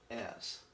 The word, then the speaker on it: es: this helps us because it's a lot like the is, but it's pronounced S. Okay, let's look at it. L-S. L-S Americano. Okay. Ella S. So it just sounds like S, but so I've kind